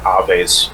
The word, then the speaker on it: Aves: But depending on what part of the world you're in, it can be pronounced a couple of different ways. But I like the Latin pronunciation, Aves, personally.